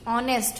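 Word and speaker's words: honest: Answer, an ऑनेस्ट answer, क्योंकि ऑनेस्ट हम pronunciation हमारा ऑनेस्ट से स्टार्ट हो रहा है। ओ हमारा क्या है, वॉवल है, इसलिए ऑनेस्ट, क्योंकि एच जो हमारा साइलेंट होता है, लेकिन लिखने वाले में हम एच लिखते हैं, इसलिए हम एच को काउंट नहीं करते हैं।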